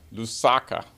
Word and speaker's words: Lusaka: uh Zambia yes what's it how do you pronounce the capital Lusaka Lusaka yeah that was the beginning of a safari